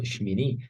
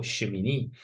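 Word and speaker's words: שמיני: Así que hoy vamos a ver la parashá número 26 que lleva por nombre en hebreo Shmini, Shmini o Shemini, que se escribe con la letra Shin, Men, Yod, Nun, Yod.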